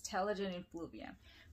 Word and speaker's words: Telogen Effluvium: Okay, I know it's hard to pronounce. It's Telogen Effluvium.